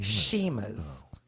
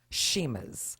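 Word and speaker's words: Chima: oh that's right sheim sheima although it has CH it's it's pronounced sheima I think Larry is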